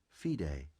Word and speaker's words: FIDE: Internationally, ratings are governed by the Fédération Internationale des Échecs, Okay, which is abbreviated FIDE, pronounced FIDE.